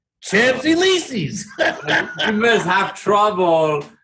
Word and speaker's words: Champs-Élysées: Les Champs-Élysées. I love the Champs-Élysées. Oh my God. Hey, the way it's spelled, that's the way I pronounce it. Champs-Élysées.